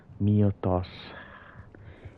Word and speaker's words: Mythos: So this is the power of Muthos. It's spelled as Mythos, but it's pronounced as Miotos. Like Mewtwo.